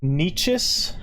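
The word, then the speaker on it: Nečas: Susan's best was Martin Nietzsche. Did I pronounce that correctly, Tommy?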